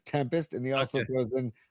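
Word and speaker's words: 7empest: It's Tempest. It's It's Tempest. You're good. Tempest. So Marky Graves says Tempest.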